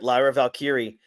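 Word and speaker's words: Lyra Valkyria: and how about um what's how do you pronounce her first name Lyra valkyri that's right Lyra valkyri man she's she is a star she's gonna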